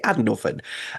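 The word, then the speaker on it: Annwfn: So most people with a passing interest in mythology will probably say Andor, but those of us who are diehard geeks who like delve into this stuff for a living, we will usually say Andorphan.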